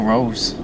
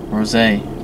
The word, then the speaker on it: Rosé: Lisa's good, but she isn't no Rose. Rosé. Crap, I gotta say it right, or else I'll get, like, hella hate.